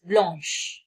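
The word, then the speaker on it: blanche: In feminine singular h e is added and it is called as bloun. Bloun. Masculine uh plural it s is added and pronunciation is same as masculine singular blah blah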